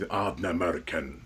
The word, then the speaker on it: Ardnamurchan: burial up in Scotland, which I always want to say it like it's something from Lord of the Rings, Ardnamurchan.